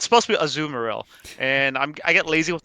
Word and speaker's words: Azumarill: I say Azumarill, as opposed to. Well, the thing is that Yeah, is that it's pronounced. Oh, it is Azumarill. Azumarill. Yeah, like Azumarill. So like a softer A, not like the A.